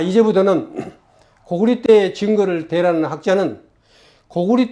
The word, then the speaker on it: 고구리: 모두 정말 정신 차려서 교과서를 바꾸고 고구려는 고구리로 고려는 고리라고 올바른 이름을 쓰지 않는 것을 강조하면서 강의를 마치도록 하겠습니다.